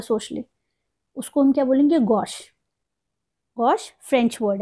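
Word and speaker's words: gauche: इसको कैसे प्रोनाउंस करेंगे ये ऐसा लग रहा है जैसे गोशे लिखा है इट इज not Gauss it is Gauss ji ए यू सी एच ई गोश और इसको ये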